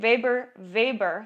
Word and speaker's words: Weber: Weber, that's how you say it, Weber's law refers